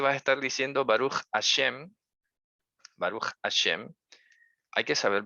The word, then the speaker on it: Hashem: Hay otros que de pronto también pronuncian Hashem con N y Hashem significa el diente. Así que tengan cuidado, esfuércense, si van a pronunciar una palabra en hebreo, esfuércense en pronunciarla bien. Hashem con M, Hashem.